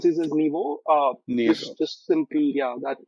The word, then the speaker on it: NYVO: Some some some people you know pronounce this as Naivo. I we pronounce this as Nibo.